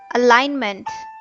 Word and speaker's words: alignment: Walk, alignment, honest, not, knowledge, thought, Calm. The silent letter in walk is L. The silent letter in alignment is G.